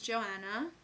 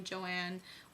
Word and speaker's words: Joanna: question what's your name my name is Joanna that's pretty basic I people say my name wrong some people call me Joanne or Johanna and um I hate that it's really annoying um do I have